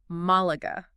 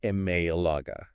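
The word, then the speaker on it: Málaga: exactly to the pronunciation think about the word Malaga Malaga it's an EST drula right so we know it has to have a Tilda yeah but if you were to pronounce it without the Tilda mayaga it would lose its Spanish flare yeah it sounds so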